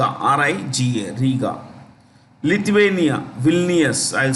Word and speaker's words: Vilnius: Lithuania, Vilnius, I'll spell it for you, Vilnius.